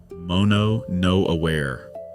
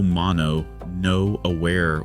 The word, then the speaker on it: mono no aware: And he finally gave it a name, three syllables, mono no aware.